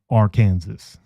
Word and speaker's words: Arkansas: have the lower education in the state of Arkansas. Cause you're gonna be a dumbass and talk about silent words or silent letters.